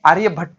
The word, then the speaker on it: आर्यभट्ट: एक साइंटिस्ट थे, Indian scientist जिसका नाम है आर्यभट्ट, आर्यभट्टा। ओके, आप स्पेलिंग पे मत जाइए प्लीज, आर्यभट्ट यच आ जाएगा ना यहाँ पर, आर्यभट्ट।